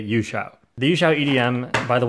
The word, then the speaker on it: YueXiao: okay in chinese this is pronounced uscio but i'm going to say yushao the yuxiao edm by the way i don't